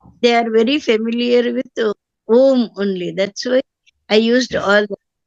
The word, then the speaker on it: Om: it should be pronounced as Om.